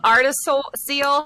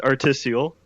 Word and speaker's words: artisiole: But we have Artis Seal here playing Vertigo Remastered New Game Plus on the Oculus Rift. So take it away. Yeah. Hi. Hello. It's pronounced articial.